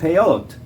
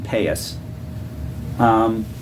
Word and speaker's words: peyot: Now the earlocks, called peyot, or if you use the Ashkenazi pronunciation, payas.